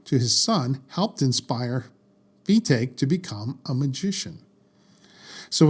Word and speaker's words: Fetaque: to fet Sanders and it's pronounced fake Sanders not fetu like I thought sorry I just that's